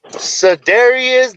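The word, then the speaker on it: Cedarian: Yeah, so Dario, we gotta let Mikey pronounce his name correctly. Mikey, what's the name? Cedarius de Leon Lamb.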